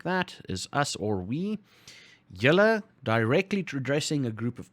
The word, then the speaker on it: julle: Julle, directly addressing a group of people, pronounced like that.